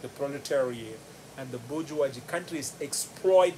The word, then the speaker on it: proletariat: Well, if I had to spell it, B-O-U-R-G-E-O-I-S-E, bourgeoisie, the moneyed class, exploits the proletariat, P-R-O-L-E-T-A-R-I-A-T, proletariat.